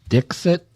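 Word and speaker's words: Dikshit: her name I guess her last name is pronounced Dixit but he was pronouncing it as dick [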